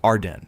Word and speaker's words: Ardennes: Number five, the Ardennes Forest, Belgium and France. Pronounced Arden. The Ardennes is enormous, dense, hilly, spanning three countries, and it has swallowed armies twice in living memory.